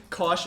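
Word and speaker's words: cosh: they're hyperbolic sign hyperbolic CA hyperbolic tan they're pronounced shine Kos don't ask me okay I didn't make it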